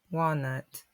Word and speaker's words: walnut: Russ walrus we can also add Walnut so that wall nut Walnut now we will go to